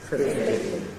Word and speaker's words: fifty: Notice, by the way, that there the accent is on fifth, even though it might not sound that way to you. Believe me, it is. The moving tone, tip, is unstressed.